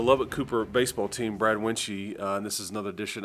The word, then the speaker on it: Wuensche: oh I'm sure yeah it's wenchy and and uh it sounds a little Asian so so I get